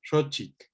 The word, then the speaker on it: xochitl: Entonces lo que tenemos es una sha, que escribimos con X, ¿no? Una O larga, recuerden que los dos puntos eran O larga, y entonces esto lo vamos a escribir con el macrón arriba, y luego la otra sílaba, chit, pues la africada esta es exactamente lo que escribimos nosotros con CH, y suena exactamente igual, y otra vez, ¿no?